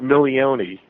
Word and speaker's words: Milione: It's yeah, you pronounce it Milione. Milione.